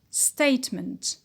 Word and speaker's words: statement: Statement is the noun, and the stress is on stay, statement.